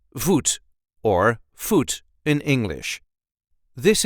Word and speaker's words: voet: and this time we will see how to pronounce in a regular Dutch accent vot or fot in English this is how we